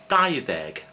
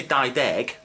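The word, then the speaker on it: dau ddeg: I didn't say dau-deg because when previous word ends in a vowel, which is a, e, or, u, as you can probably see somewhere, the d in deg turns to the. So it's dau-ddeg. Okay?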